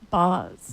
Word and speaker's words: Baz: It is pronounced Boz. Boz. Boz. Like Brian Bosworth, Yes. Boz. Like the Boz.